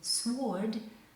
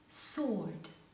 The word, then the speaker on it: sword: word but it is not pronounced answer awful sword this is a difficult word and many many students pronounce this word sword but it's not correct sword okay now let's look at interesting combination in